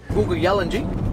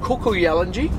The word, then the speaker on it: Kuku Yalanji: Googa Yalanji, that's our tribe name. Right. Where the Googa Yalanji people, the rainforest people. Right. It's pronounced Kuku Yalanji, but the K to us is a silent letter.